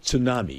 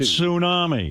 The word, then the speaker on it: tsunami: You know, there's a T in front of that word. It's pronounced tsunami.